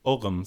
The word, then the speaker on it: Ogham: in Ireland, which are the Ogham stones or Ogham stones, depending on your how modern you want your pronunciation to be.